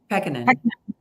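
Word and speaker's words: Pekkanen: Did I pronounce that right? Is it Peckinham? Peckinham.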